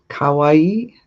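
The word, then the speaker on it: かわいい: The difference is the pronunciation. Kawaii is cute and kawaii is scary.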